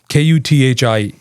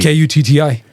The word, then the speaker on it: kutti: And they would write that Kuthi, right? And it'd be like kuthi. And I was like, why are they putting a H there? It's not a th sound. How would you spell it? TT. Kutti.